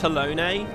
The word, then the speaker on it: Halone: It's pronounced Halone.